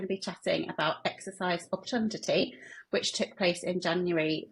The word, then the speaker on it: Obtundity: Obtundity. And how and why did it get its name? I think you are pronouncing it right, because that's how I pronounce it as well, Obtundity.